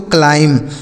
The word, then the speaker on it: climb: आगे लिखा है CLIMB, इसे पढ़ते दोस्तों क्लाइम। CLIMB इसे पढ़ेंगे क्लाइम। मैं देखिए यहाँ जो बी लिखा है यह साइलेंट है, इसका उच्चारण नहीं करना।